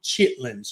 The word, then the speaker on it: chitterlings: cooking up some and we call them chitlins here. Yeah, I think it's Chitterlings. That's how it's spelled on the package. It took me a minute because I was like, "What is what's Chitterlins?" But then I was like, "Oh, Chitlins."